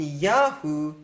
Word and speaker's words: Yahu: In Yah or in Yahoo, that A is always the accented syllable.